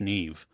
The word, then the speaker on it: Niamh: I don't know, I, but why is Niamh Neve in um, Irish? I don't know. I That's don't it's know. Yeah, it's like never mind.